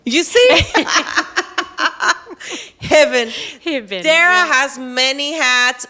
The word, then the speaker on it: Hibben: name because it was a little hard to pronounce and remember I have an accent. Yeah, sure. It's Dara Hibben. You see? Hibben.